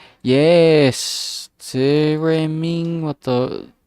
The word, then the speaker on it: theremin: Yes, theremin. What the? How to pronounce this again? Sorry. Theremin.